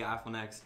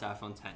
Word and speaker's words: iPhone X: I mean, I say iPhone X, but I mean, I know I'm supposed to pronounce iPhone 10.